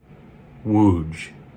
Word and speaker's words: Łódź: So phonetically speaking, one would have a pretty good idea of how to pronounce this from an English-speaking standpoint, but they would be wrong. Let's say this one together. Łódź.